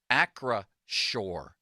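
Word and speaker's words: Acrisure: so do I but we've clearly been phonetically corrected here it says in parentheses Acra Shore Acra Shore Stadium right limits that's what it says phonetically by sales maybe sales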